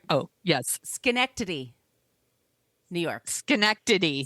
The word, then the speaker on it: Schenectady: Schenectady. Schenectady.